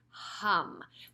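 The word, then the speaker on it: HAUM: just so you know it's not om which we usually say a lot in traditional yoga classes this is h a m hum sounds very similar and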